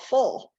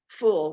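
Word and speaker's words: ful: And I asked the chef what it was, and it's called fool, I think is how it's pronounced, F-U-L.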